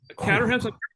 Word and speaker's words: Caterham: And Caterhams, they're fun. They're a lot of fun to drive. I was going to say, what's that pronunciation there? That's Santa. That's Santa Barbara. It's Caterham, like Broham.